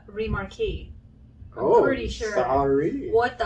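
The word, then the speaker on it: Remarque: front is eric maria remarks masterpiece of the german experience during world war one wait that is not how you say his name how do you say his name it's like eric maria remarquis oh pretty sure what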